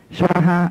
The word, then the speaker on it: Svaha: Swaha. S-V-A. A đọc dài. Ha. H-A. Tây Tạng đọc là Swaha. Mình đọc thấy tiếng Phạn là Swaha dài.